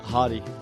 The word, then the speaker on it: Hadi: How do you pronounce the name? Hadi.